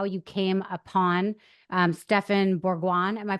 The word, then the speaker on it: Bourgoin: Can you just tell us a little bit about how you came upon Stephen Bourgoin? Am I pronouncing his name right?